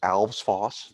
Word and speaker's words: Alves Foss: I want to just remind people it is Alves Foss, the whole name. It's not just Foss, it's not Alves. It's a two-syllable. Think of Santa Claus, Elves Boss. It rhymes with that.